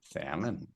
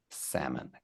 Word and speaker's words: salmon: Anna salmon good good salmon perfect good pronunciation there the L is silent okay so it sounds